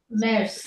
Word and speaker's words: März: কারণ আমলাউট যদি আমার অন্য কোথাও আসে তখন সব জায়গায় এ এ উচ্চারণ করবেন। হ্যাঁ, ম্যার্জ হবে, ম্যার্জ। ম্যাটস, ম্যার্স। এর উচ্চারণ আবার ছয়ের মতো করবেন।